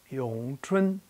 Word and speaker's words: Wing Chun: In Putonghua, Wing Chun is pronounced Yong Chun.